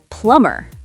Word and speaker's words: plumber: How about plumber? Oh, m at the end. The b is silent. Plumber.